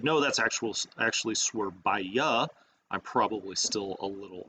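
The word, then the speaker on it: Surabaya: The beautiful Swerbaya. Now that I'm pronouncing it correctly, you may remember when we started the tutorials, I think I was saying Swerbaha, and somebody corrected me.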